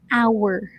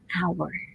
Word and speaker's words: hour: with an h period pronunciation is actually silent age remember last time i said our auras right an hour so dahyunga we listen